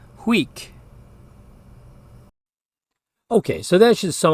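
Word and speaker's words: huic: but pronounced prum finally UI which is pronounced we it's kind of like the sound we make when we're going down the roller coaster so the word that means to this spelled hu i c is pronounced weak okay so that should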